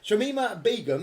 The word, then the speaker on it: Shamima Begum: on so um guys agenda item one um shamima begum is that how you say her name yes